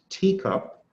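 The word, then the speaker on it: TECOP: The next one is a teacup, pronounced teacup.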